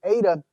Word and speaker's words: eta: you write it ok the ADA in terms of pronunciation corresponds to the e sound but the long e sound in English as you have in the English word for obey so it's an a sound and it's considered a